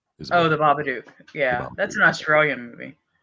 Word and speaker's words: Babadook: said that 2014 i don't know how to pronounce his name baba duke oh the babadook yeah that's an australian movie 1935 you you